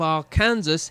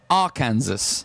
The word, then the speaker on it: Arkansas: nearly did it is against the law to mispronounce the name of the state of Arkansas in that state arkansas arkansas right so if we were to say